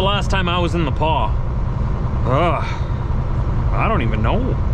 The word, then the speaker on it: The Pas: saskatchewan that sign says the paw is that way the paw is spelled t-h-e like the space paw p-a-s the paw manitoba take the next